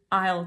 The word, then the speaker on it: aisle: oh yes it's in Isle 10 or it's in Isle 7 meaning it's in that row of shelves that aisle okay so three words for one fun pronunciation Isle